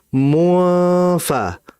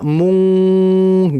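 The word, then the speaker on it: منفكين: Sehingga hati-hati dalam bacanya munfa. Munfa jangan dibaca mung. Jangan. Harus dikembalikan juga bibirnya munfa.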